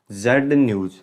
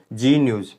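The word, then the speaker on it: Zee News: हम इसको pronunciation जेड न्यूज़ नहीं करते, हम क्या बोलते हैं? जी न्यूज़। जी न्यूज़ बोलते हैं इसको।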